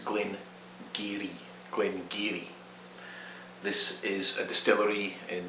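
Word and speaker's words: Glen Garioch: number two it's not glenn it's glen gary glen geary this is a distillery in the north north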